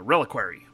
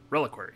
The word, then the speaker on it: reliquary: parts or blood it is a thing uh reliquary reliquary that's how you pronounce it okay it is advised to uh